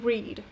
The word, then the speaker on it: read: I try to read. Форма past simple, несмотря на то, что она пишется точно так же, читается иначе, как слово красный.